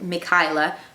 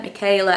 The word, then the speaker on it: Mikila: me me to be called Mikila rather than Michaela and so she put in like put the words in letters in such a way that she thought that no one would be able to mispronounce it because it's mck highla yet so many people call me Micha Michela Etc and it bugs her